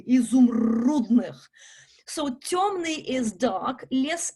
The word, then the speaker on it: изумрудных: Very often when you see a Y, it's an U. It's a very special Russian syllable. It's difficult, consonant difficult to pronounce. You need to open your jaws kind of widely. It goes to the sides of your mouth. U, изумрудных.